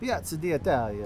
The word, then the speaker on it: Piazza d'Italia: So Justin, we're here at the Piazza d'Italia, yeah? That's how you pronounce it? Piazza d'Italia. Piazza, you gotta have that little accent in there.